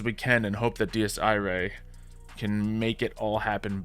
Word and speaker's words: Dies Irae: Players are going to assume it says dies. But it's Dies Irae, which is actually based on Latin, which I know some basic, Italian and some basic Spanish, so that's probably why I jumped to saying it correctly.